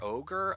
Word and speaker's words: Ogier: After he leaves, Perrin, Moraine, and again with the pronunciation, is it Ogier? Ogier.